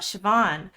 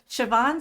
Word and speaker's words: Siobhan: She has a lovely Irish name, and let me just give you a few words about Siobhan.